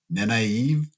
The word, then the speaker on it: Nynaeve: Nynaeve.